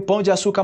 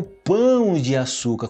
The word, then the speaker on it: Pão de Açúcar: de Açúcar né o Pão de Açúcar cuidaram nessa pronúncia recentemente eu gravei um vídeo só falando sobre isso sobre a diferença entre pão e pão Ok Pão de Açúcar e não tanana de Açúcar em espanhol Geralmente se